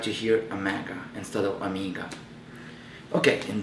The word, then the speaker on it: Omega: right here in the box when I'm saying Amiga uh some of the people probably saying why you not pronouncing Omega the way it should be and